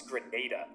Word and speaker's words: Grenada: So, I think it's pronounced Grenada, but apparently potevano fare qualche cimitero, no? it's Grenada.